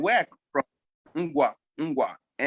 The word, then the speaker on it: Ngwa: And where I come from, Ngwa, Ngwa. And that's how you say it, Ngwa, N-G. Yeah, right.